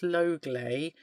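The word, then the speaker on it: Leuglay: Um, I'm currently in I think it's pronounced Lowlay, spelled L E U G L A Y, in France.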